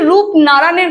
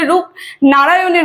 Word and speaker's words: রূপনারানের: এই কবিতাটার নাম হচ্ছে রূপ ননারায়ণের কুলে অনেকজনই কিন্তু উচ্চারণে ভুল করে ঠিক আছে অনেকজন বলে রূপ নারায়ণের কুলে সেটা কিন্তু না রূপ ননারায়ণের কুলে আর রূপ ননারায়ণটা